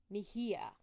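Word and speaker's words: Mejía: Mejia. Sonia Mejia. And that is how it's pronounced because I did check.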